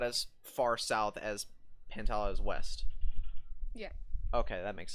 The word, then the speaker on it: Pantala: it pantala pentala yeah i call it pantala it's a pentala or pantela pantala i put a i put like a flatter a sound on it but um pantala's actually